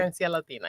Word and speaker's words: Esencia Latina: She also founded Esencia Latina. Did I say it right? Esencia Latina, yes.